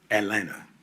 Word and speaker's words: Atlanta: Uh uh yeah, I was um I was born and raised in in Atlanta, you know, where the T is silent.